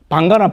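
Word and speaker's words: bhaṅga: 방가나 빵이나 똑같죠? 저는 빵이 방에서 왔다고 봅니다. 우리는 방가라 하지만은, 지금 힌두, 힌디하고 마라티 같은 인도에서는 맨 뒤에 A는 발음 안 합니다. 방가, A 빼보면 빵.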